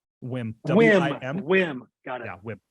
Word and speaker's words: Wim: Wim.